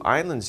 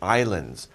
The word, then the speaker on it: island: these we have two islands here there's water all around these pieces of land right so we call these islands by the way we don't pronounce the s in island it's just island not